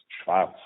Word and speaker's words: Schwarz: S. Schwarz means black in English, and no Schwarz and no T inside. It's Schwarz.